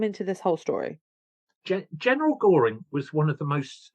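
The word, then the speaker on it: Göring: That it's not Goring. It's not Goring. It's actually Goring.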